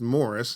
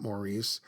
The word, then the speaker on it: Maurice: I might point out his first name is pronounced Morris not morrice I always made the mistake myself of saying Maurice after watching several videos